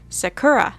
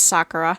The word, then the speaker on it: Sakura: from the English dub where they say Sakura. They're putting the emphasis on the wrong syllable. I know it's Sakura, but it's hard to break that habit.